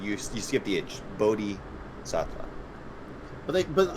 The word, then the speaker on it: bodhisattva: but they but like when i when all the pronunciation things that i've clicked on here it kind of has not like a long eye sound it has like a short like boda bodhisattva or bada i think both are right anyway it